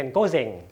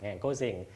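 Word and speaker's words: 午前: อง โยมิ ออก เสียง ว่า เซง นะ เป็น โก เซง โก เซง ถ้า อยู่ 1 ตัว อยู่ 1 ตัว จะ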